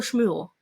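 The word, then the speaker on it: שמואל: So literally it's Shmo Shmuel there in Hebrew. So you can hear the like alliteration, Shmo Shmuel.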